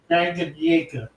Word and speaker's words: Tanganyika: Okay, so the K is silent. All right. Tanganyika.